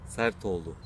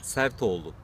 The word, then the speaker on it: Sertoglu: Can you please pronounce your Turkish surname? Sertoglu. What? Sertoglu.